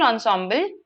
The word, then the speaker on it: ensemble: What is an ensemble? Yes. So this is how it is pronounced ensemble. It's a French word that has been adopted in English.